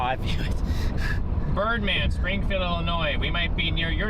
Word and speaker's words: Illinois: When I was a little guy, I would say Illinois. But now, of course, I say Illinois, but I used to think it was Illinois, but the S is silent, so.